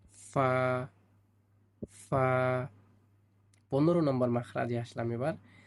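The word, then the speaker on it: ف: হয়েছে দুই দাতের আঘাত সামনের উপরের দুই দাঁতের আগার সঙ্গে লাগাতে হবে। ফা হালকা করে বাতাস ছাড়তে হবে। তাহলে সুন্দর উচ্চারণ হবে। ফা ফা 15 নম্বর মাখরাজে আসলাম এবার।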